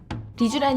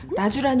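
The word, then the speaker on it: Rejuran: 음 , 사실 저 한테 는 레주란 이라는 이름 이 발음 하기 좀 어려워 요 . 환자들 은 흔히 그것 을 " 라주란 " 이나 " 니주란 " 등 으로 부릅니다 .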